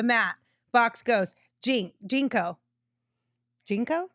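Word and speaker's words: JNCO: or no the mat box goes jinx jinko jinko right that's how you say it you guys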